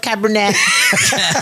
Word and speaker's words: Cabernet: Cabernet.